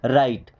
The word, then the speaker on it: write: Then अगला word है राइट। अब इस राइट वर्ड में W साइलेंट होता है, R के पहले कभी भी अगर W है तो हमेशा साइलेंट हो जाएगा, जैसे WRIST, इसे क्या